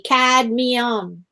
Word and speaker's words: Cadmium: Cadmium. The M comes right after the D. Cadmium.